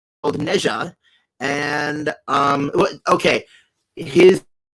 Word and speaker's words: Nezha: gonna be talking about the character uh called neja and um okay his name is pronounced naja as in nadj a but i'm gonna call